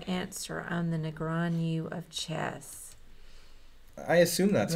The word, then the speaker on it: Negreanu: Negreanu is how you say it.